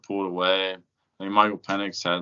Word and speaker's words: Penix: That's how you pronounce it? Penix, yeah.